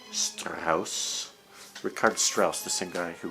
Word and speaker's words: Richard: i like star house ricardo strauss the same guy who wrote the 2001 it's spelled richard but we german say ricard strauss i'm not german uh